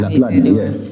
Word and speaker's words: Laplandia: Is that Laplandia, perfect.